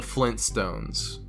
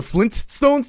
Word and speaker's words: Flintstones: Because no one is pronouncing that T. Hey, did you watch the Flintstones today?